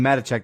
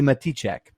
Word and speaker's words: Matichak: makes me dumb because I call her Andy matichek the whole movie uh the whole review but the interview on collider was Andy mate check so whoops I've been saying her name wrong and I'm in oh